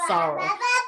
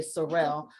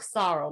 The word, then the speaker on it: Sorrel: most americans will say sorel but the way we pronounce it it sounds like sorrow like s-o-r-r-o-w and so i was